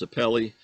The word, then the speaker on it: sapele: is a type of wood i think it's pronounced sapele s-a-p-e-l-e and it's in the mahogany family and